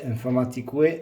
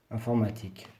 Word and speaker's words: informatique: Musique, informatique, non. Hein? Musique, informatique. UE ne se prononce pas.